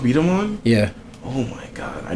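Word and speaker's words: B-Daman: And then is that how it's pronounced? Beat 'em On?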